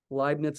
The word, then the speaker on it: Leibniz: Leibniz is spelled L-E-I-B-N-I-Z. German, I think, Leibniz. E before I is an I sound in German.